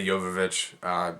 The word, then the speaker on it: Jovovich: stars his wife milla jovovich or jovovich whatever you prefer to pronounce it with I say yoga vich it doesn't really matter this is a sixth